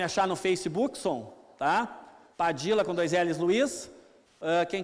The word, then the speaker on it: Padilla: Twitter próximo próximo underline padilla com dois L sempre esquecendo os dois olhos né Né que é de origem espanhola né mas você pode chamar de Padilha pode chamar de e